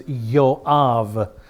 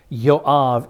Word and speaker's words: Joab: Remember the J uh the Hebrew language has no sound for J. Uh J's are always translated as wise pronounced as wise like the name Jesus. A proper Jew would never say Jesus. His name is Yeshua. This man Joab's name is Yav. Yav.